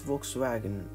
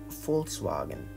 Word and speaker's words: Volkswagen: Since it is German, it is not Volkswagen, but Volkswagen.